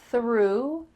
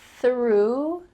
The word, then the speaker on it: threw: He threw, your tongue is between your teeth, and there's a nice stream of air.